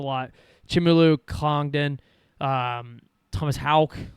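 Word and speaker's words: Haugh: Um Thomas Hal somehow pronounced with the H A U G H. That's Hal.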